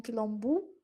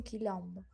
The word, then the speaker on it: quilombo: Não esqueçam que as vogais são sempre pronunciadas da forma que elas estão na palavra. Então, não é um quilombo. Um quilombo não. Além de terção do um quilombo, o o no final vai ser pronúncia de o, né? Então, né, um quilombu sempre vai ser um quilombo, um quilombo, né?